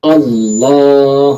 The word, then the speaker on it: Allah: Bukan O, tapi apa? Allah. Kalau ada yang iseng nanya, kok dibacanya Allah bukan Allah? Kenapa demikian? Karena alif itu pada huruful tahaji, ejaan pada huruful hijaiyah adalah alif fathah A. Makanya kita wajib membaca dengan kalimat tadi apa?